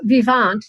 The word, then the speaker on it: vivant: part of oracle yeah so vivant that's that's a way one would pronounce it because it's a french word um means alive or living in french and the reason we